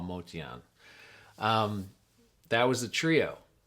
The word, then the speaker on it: Motian: I guess it's pronounced Motian, but he just went with Motion after so many years cuz that's what everybody would say. So, even he started calling himself Paul Motion, but I'm pretty sure his original pronunciation is Paul Motian.